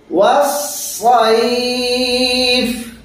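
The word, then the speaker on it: وَالصَّيْف: না ওয়াস না ওয়াস সদ মোটা হরফের উচ্চারণটা মোটা করে করতে হয় জি ওয়াস-সাইফ এখানে আমরা একটা ভুল করে থাকি সাইফ বলে থাকি আমরা ওয়াস-সাইফ এরকম আমাদের আওয়াজ শোনা যায় এই ভুলটা আমরা সাধারণত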